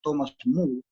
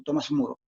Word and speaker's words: Thomas More: Su verdadero nombre habría que pronunciarlo Thomas More, pero se ha conocido en Occidente español como Tomás Moro.